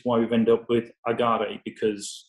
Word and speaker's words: Agaré: And so we've adopted the name for our brand of Agaré, which is A-G-A-R-E, with an acute accent on the E.